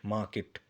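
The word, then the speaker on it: market: में question मार्क इसमें आ आर silent रहेगा गाइस ठीक है मार्केट नहीं होता बहुत लोगों को मैंने सुना बोलते हुए मार्केट कहां जा रहे हो भैया मार्केट जा रहे हैं भैया मार्केट नहीं होता मार्केट होता मार्केट मा होता है ना हम कहते ी में मा उसके बाद किट मा किट ठीक है आर इसमें साइलेंट होता है क्या होता है माकेट विल गो टू मार्केट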